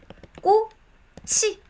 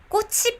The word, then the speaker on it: 꽃이: When there is 받침 before 이응, then this sounds goes to the placeholder 이응. So 꽃이 is pronounced as 꽃이.